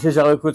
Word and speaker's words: Jaeger-LeCoultre: Was the pronunciation all right? Matthieu is perfect, yeah, and Jaeger-LeCoultre was perfect too.